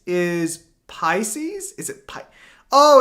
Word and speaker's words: Pisces: finished and be proud We so supportive pis piscus is Pisces is it pi oh it's pronounced Pisces that's stupid did you piscus no